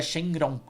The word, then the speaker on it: Shenron: Com o Deus Dragão em em japonês, mas tem no o katakana com a pronúncia japonesa do que seria mais ou menos a pronúncia chinesa, que daí vira Shenron, né?